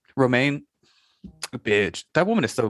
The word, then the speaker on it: Romijn: Rebecca Romijn. Is that how you say her name? Romaine.